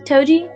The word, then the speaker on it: Toji: Toji.